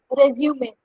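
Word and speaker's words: résumé: Resume. All right, Cecilia, ma'am, are you okay with that pronunciation? That is pretty good. Yeah. Yeah. Resume. Resume. Yeah, that's correct. Poonam, that's correct. Resume.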